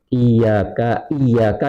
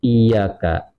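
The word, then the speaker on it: إياك: Andai kata ada orang iyaka yang betul itu, dia bacanya tidak bertasdid iyaka, maka dia telah kafir kalau memang dia sengaja dan dia memang mengetahui ilmunya.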